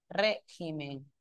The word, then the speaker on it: régimen: Acá régimen y acá sería el acento en que corre en regímenes.